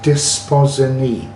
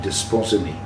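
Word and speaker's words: Desposyni: It's Desposini. Yeah, that is its pronunciation, Desposini. So for anyone that watches and does an interview about the Desposini and the bloodline of the Christ and all that, that is how you should be pronouncing it, to be fair.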